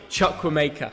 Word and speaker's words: Chukwuemeka: I think I do, but you pronounce it. Chukwuemeka.